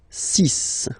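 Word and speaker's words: six: And be careful here, because even if it's ending with this X, well, you'll have to pronounce it like S, okay? So you get the 6 pronunciation.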